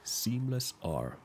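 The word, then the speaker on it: SeamlessR: And first YouTuber that comes to mind is a YouTuber called Seamless R, and the R is silent.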